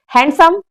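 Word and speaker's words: handsome: हाँ, लेकिन वहां पे डी साइलेंट होता है, हम डी नहीं, हैंडसम नहीं बोलते, हैंडसम बोलते हैं।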